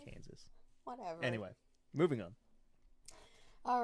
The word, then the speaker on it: Kansas: you mispronounced kansas candice there's no d in kansas oh okay kansas is that better yes kansas i'm not pronouncing it so where he's just like candace like the name candace and i'm like that